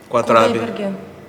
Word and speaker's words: Kudaibergen: Kudai Bergen.